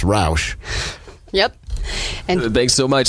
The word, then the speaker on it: Rauch: I'm here with melissa rauch I'm really glad to be here so you already said her name wrong it's rauch yep and big so